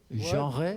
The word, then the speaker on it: genre: Okay, yet another genre. Is that how they say it in France? Genre? Oh, genre. You gotta sound like you got cheese in your throat, you know.